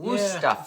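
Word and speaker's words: Wüsthof: Wusthof is how you say it.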